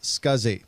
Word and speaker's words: SCSI: the drive was operational the abbreviation SCSI is pronounced scuzzy and this stands for